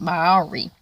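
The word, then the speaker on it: Māori: How do you pronounce it? Maori.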